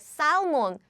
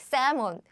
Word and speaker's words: salmon: There is L. So theoretically, I'm supposed to pronounce like salmon. But in English, it's not salmon, right? It's like salmon.